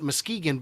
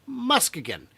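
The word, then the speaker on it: Muskegon: these events it is it is officially not Muskegan but musan still spelled the same but you guys can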